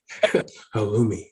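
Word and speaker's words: halloumi: sounds cool just saying you're saying it right halumi yeah I need I need a burger with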